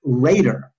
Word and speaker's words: Rader: his name is Christopher Rader. Now, why would I remember his name? Because his last name rhymes with Vader.